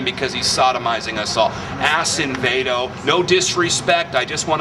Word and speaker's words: Acevedo: I want to make sure your viewers understand the correct pronunciation of his name because he's sodomizing us all. Acevedo.